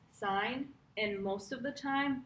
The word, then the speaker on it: sine: is called sine and we spell sine as s i n e but we abbreviate it to s i n it's pronounced sign and most of the